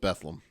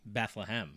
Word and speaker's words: Bethlehem: I I've always called it Bethleam. Yeah, there's an there's an H in there. There's a lot of people that remove that syllable even from Bethlehem. They do say Bethlehem. So they're all wrong. So I'm not wrong.